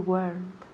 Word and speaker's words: weren't: So, weren't solo tiene una sílaba, por favor. So, please, por favor, please. No me digáis weren't. Weren't? No, muy mal, muy mal. So, no me digáis weren't, ni weren't, ni weren't, ni nada de eso. Weren't. Una sílaba, por favor. Weren't. Weren't. And hay que oír la T al final de la palabra.